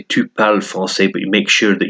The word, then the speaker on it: français: There's an example of the E at the end of the adjective changing the pronunciation. So if you said il est français, if it's a he, then it'd be il est français. But it's because she is, elle est française.